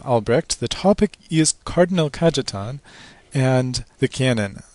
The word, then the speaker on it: Cajetan: The topic is Cardinal Cajetan and the Canon. And I've pronounced that J because Cajetan is Italian, not Spanish.